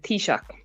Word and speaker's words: Taoiseach: How do you pronounce the name of the equivalent of the Prime Minister of the Republic of Ireland? Not the name, but the title. The Taoiseach.